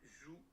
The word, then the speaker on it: João: is in the nose like these, not these.